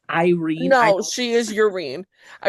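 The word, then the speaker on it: Yrene: I which the think that whole was point is to introduce Urine. it's pronounced Irene.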